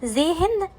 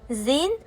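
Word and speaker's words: zehn: نطقتها تي اشتط اشتط حرف الها لا ينطق لو بعد حرف متحرك او بين حرفين متحركين زي ايه؟ زي زين زي زين زي زين او جين من الاخطاء الشائعه ان الناس بتنطقها زيهن وجيهن لا هنا الهاء لا تنطق زين وجين Die Küchen öffnen.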